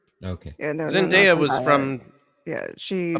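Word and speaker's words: Zendaya: my little machine yeah it's Zinda not zindia um uh Third Base um I'm pronouncing it no I'm just I'm just it's for everyone's edification I didn't know I thought it was Z Dia yes she's yes she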